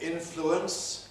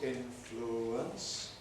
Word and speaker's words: influence: You can say influence, 3 syllables, influence, or you can compress it to 2 syllables, influence.